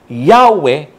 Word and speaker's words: Yahweh: If the explanation of the form above given be the true one, the original pronunciation must have been Yahweh or Yahweh.